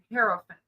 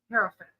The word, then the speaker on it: Hierophant: And this one is I always say it wrong, Hierophant. Hierophant. I have to Google up how to say it because I always mispronounce it.